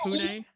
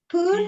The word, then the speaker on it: Pune: Sounds like Pune. Pune?